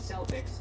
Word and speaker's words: Celtics: Here in Ireland, except for the initial soft say in sports teams' names, like the Celtics, Celtic with a hard C or K is the standard, but that was not always the case. The early pronunciation was with an S sound, reflecting its nearest origin in French.